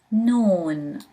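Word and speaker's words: نون: Noon, noon, pronounced as N in English.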